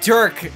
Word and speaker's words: Dirk: stoked man what if Derek ninski is Derk n what is or how do you say his name Durk Dirk did you call him Derek yeah I said Derek I don't watch uh